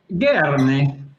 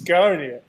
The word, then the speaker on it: Garnier: Barry, correct my pronunciation on that brand. Garni. And you have to use your hands a lot, you know. Garni. We could spend the whole hour listening to Barry pronounce Garnier.